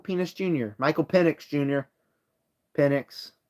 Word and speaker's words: Penix: Jr Michael penix Jr penix I said penix penx penx that's how you say it Michael penck anyways